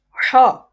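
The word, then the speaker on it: ح: Okay, ha is pronounced from the middle part of throat, just like from the middle part of throat. Ha, a clear sound is created, just like ha, ha, ha, ha.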